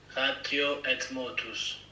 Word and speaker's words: Ratio et Motus: It's a Latin word, so it's not French, but Ratio Et Motus. Okay, so it's not French. The et. Actually, in Latin you pronounce it et. So it'd be Ratio Et Motus.